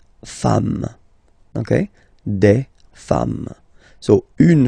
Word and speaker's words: femmes: at the end, and as we said, you don't pronounce it, so you get des femmes, okay?